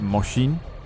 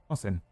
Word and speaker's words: Mosin: Isn't it pronounced Moshin?